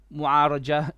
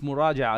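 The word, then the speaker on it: مراجعة: It is not mu'araja. It is. Yeah, you're right. Sometimes online, I even say my name wrong. You know, it happens. Alhamdulillah. Jazakallah for correction. It's muraja'a, isn't it? Muraja'a.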